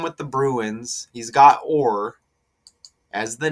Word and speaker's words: Orr: Orr rhymes with 4 too.